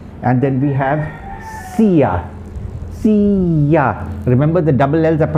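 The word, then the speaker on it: silla: means south sur and then we have see see ya remember the double l's are pronounced yeas in spanish and not l okay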